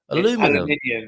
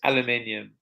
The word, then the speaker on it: aluminium: You drop a syllable. You drop it too. Yeah. Aluminum. It's aluminium.